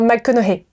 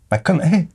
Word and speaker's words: McConaughey: Non, McConaughey. McConaughey. McConaughey. L'autre jour, j'ai entendu un truc, c'était fou, je te jure. Mais ça se prononce pas GH.